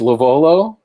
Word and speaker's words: LoVuolo: Tonight I'm joined by my friend Andrew, who will tell us how to pronounce his last name. It's LoVuolo.